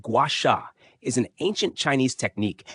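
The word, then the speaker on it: gua sha: Guasha, pronounced guasha, is an ancient Chinese technique that involves gently scraping the skin with a smooth tool, usually made of jade or rose quartz.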